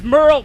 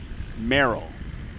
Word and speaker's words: Merrill: It's Merle Potter. Merrill. I think I pronounced that incorrectly.